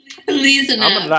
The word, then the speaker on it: Elezanumab: pronounce it again. Elezanumab. I'm going to write that down. Elezanumab.